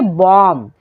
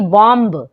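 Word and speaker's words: bomb: For example बॉम्ब, यहाँ पर आप अगर ध्यान दें तो बी जो है वो एम के बाद आया है तो यहाँ पे बी हो जाएगा साइलेंट। तो क्या पढ़ेंगे, बॉम्ब, ना कि बॉम्ब। ठीक है, बॉम्ब पढ़ेंगे। क्यों, क्योंकि बी जो है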